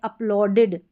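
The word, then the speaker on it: uploaded: तो यहाँ पर जो है हमारा साउंड निकल कर इड आएगा, ई डी का। जैसे यहाँ पर है अपलोडेड, अपलोडेड इड आ रहा है, स्टार्टेड इड आ रहा है, वांटेड और ट्रस्टेड और नीडेड, तो इन सभी में इड करके आ रहा है, क्योंकि ई डी से पहले यहाँ पर टी है या डी है। तो यहाँ पर इड में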